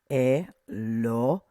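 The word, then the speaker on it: אֱלֹהִים: Okay, that little dot there makes the sound O. So Elohim. Accent mark is here. So we're going to emphasize that.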